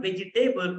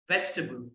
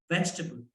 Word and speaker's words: vegetable: let me tell you there is no table in the end where we say vegetable also it's not vegetable it's vegetable repeat after me please vegetable okay vegetable next the